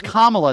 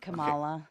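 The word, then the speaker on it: Kamala: And maybe I By the way, it's Kamla, not what did you call her? Camala.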